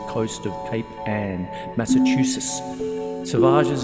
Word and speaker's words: Salvages: of Cape an Massachusetts sages is pronounced to rhyme with ases grown up a whistling